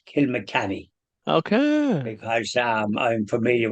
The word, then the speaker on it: Kilmacanogue: and uh you mentioned kill maog well that's the the way it's spelled but it's actually pronounced Kil mny okay because um I'm